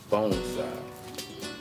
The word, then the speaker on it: bonsai: It's pronounced bonsai, like bone, like bonsai, Japanese word.